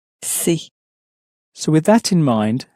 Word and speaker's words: c'est: You find a lot of English speakers will often pronounce it as something more like c'est, but it's not exactly c'est, but more c'est, c'est.